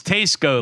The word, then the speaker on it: Tesco: just like warped and we have determined it's Tesco like SE it's Tesco okay this goes back